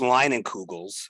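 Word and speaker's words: Leinenkugel's: called sure so it's it's pronounced line and kugels but if you just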